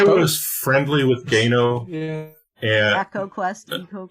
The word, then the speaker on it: Eco: yes um I was friendly with go and Echo e EO is how we pronounced it at the time and and it